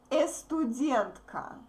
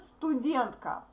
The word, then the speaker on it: студентка: So, don't pronounce "e" in the beginning, please. I know that you have similar words but that start with "e" sound. No, here we say "s" first, okay? Not "estudent," but "student."